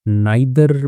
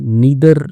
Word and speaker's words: neither: तो इसको नाइदर भी लोग पढ़ देते हैं। ठीक है? इंडिया में चलता है। लेकिन सही में नीदर इसका जो है उच्चारण होता है।